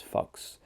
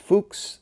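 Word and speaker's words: Fux: by a guy named Fuchs, which is mispronounced by many students, much to the chagrin of professors, but inspiring a lot of laughter. It's mispronounced as Fuchs. So it's actually pronounced Fuchs, The Steps to Parnassus.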